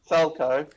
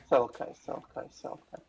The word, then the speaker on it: Selko: Yeah, say Falco, but replace the F with an S. There you go. Selko. Yeah. Selko.